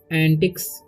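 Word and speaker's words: antics: पढ़ेंगे, क्या पढ़ेंगे डूइंग एंटिक्स, एंटिक्स, ठीक है एंटिक्स, यहाँ पर सी का उच्चारण क हो रहा है तो इसलिए एंटिक्स पढ़ेंगे, ठीक है।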